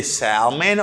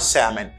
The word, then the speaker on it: salmon: You can say salmon or salmon. Ou ka choisi prononcer L là ou bien pas prononcer L là.